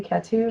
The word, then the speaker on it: Catou: Catou? yeah. That's yeah.